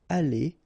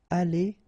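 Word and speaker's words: allées: you will pronounce it Ali Ali Ali and Ali so technically you don't pronounce the final U you don't pronounce the final s and you don't pronounce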